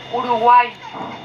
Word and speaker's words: Uruguay: or the river of the painted birds, correctly pronounced Uruguay.